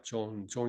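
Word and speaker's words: צאן: "tzon" 이라 고 발음 합니다 .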